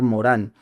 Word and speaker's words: Morin: Se escribe Edgar Morin, se lee en francés Edgar Morán.